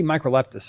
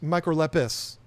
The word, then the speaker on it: microlepis: Was it Microleptis? Yes, Microlepis. No T.